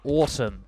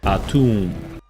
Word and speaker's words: Atum: the one being called Autumn, though if that's named after the Egyptian deity, I don't think that's normally how it's pronounced. ATUM.